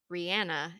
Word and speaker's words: Rihanna: comes to mind for me with Aries energy Rihanna and before you correct me that is actually